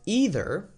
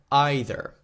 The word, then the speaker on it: either: correct so this one you can say as either or either so as this sound e or as this sound I either or either and